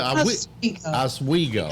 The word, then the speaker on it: Oswego: Is it Oswego? Oswego. It's not hard. There's even a town in your state called Oswego. Pronounced Oh, really? The same way.